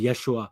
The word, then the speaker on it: Yeshua: But I'll still say Yah, Yahshua, Yeshua, because that's what the Gentiles could only pronounce. They couldn't pronounce the J sound.